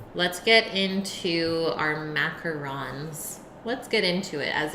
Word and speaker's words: macaron: Would it be pronounced with a nasal vowel at the end, and otherwise, is it French? Yes, macarons are French. Macaron.